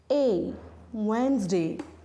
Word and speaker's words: Wednesday: Wednesday. D is silent here.